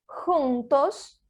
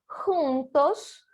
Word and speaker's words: juntos: Recapitulando, o som do J em espanhol é igual ao som do R de rato em português, certo?